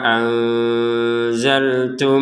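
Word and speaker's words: أنزلت: Wa aminu bima anzaltu musaddiqan. Nah, di sini untuk nun sukun bertemu dengan zai maka kita bacanya dengan samar ya.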